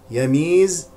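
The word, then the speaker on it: يَمِيزَ: والفاء مضمومتان يميز الخبيثه يميز بفتح الياء الاولى وكسر الميم مع المد الطبيعي سبحانك اللهم بحمدك لا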